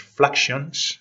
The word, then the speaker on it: fluxions: Realmente la pronunciación es fluxions del inglés flux, flujo, así que serían los flujones de Newton.